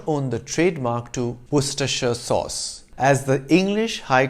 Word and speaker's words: Worcestershire: with the name spelt w-o-r-c-e-s-t-e-r-s-h-i-r-e do not pronounce it as were sister shire it's worcestershire perfectly logical right even